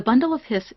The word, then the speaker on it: bundle of His: conducting tissue called the bundle of hiss this looks like it would be pronounced bundle of his but it's actually pronounced hiss as in the hiss of a snake because it's named after